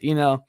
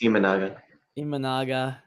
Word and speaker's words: Imanaga: But Imango is smart, and then after that, You said it wrong. It's Imanaga, the Bush and Almonte trade.